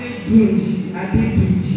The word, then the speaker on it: Adeduji: Adeduji. Spell it. Say that spell. A-D-D-E. No, A-D-E-D-U-J-I.